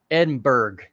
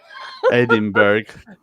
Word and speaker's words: Edinburgh: and we call it Edinburgh Edinburgh yeah anything with b-u-r-g-h in America it's Berg and that's a lot